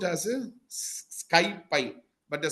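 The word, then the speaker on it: SciPy: C cbon skyie it is called it is pronounced as a skypie but the spelling is this okay okay ID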